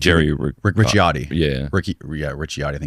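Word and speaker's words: Ricciotti: Richiotti is how you say it.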